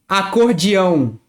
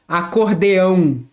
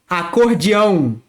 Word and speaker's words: acordeão: Accordion, acordeão, acordeão. This is how we pronounce here in Rio de Janeiro. In some other parts, people might pronounce like acordeão, acordeão. But here is acordeão, acordeão.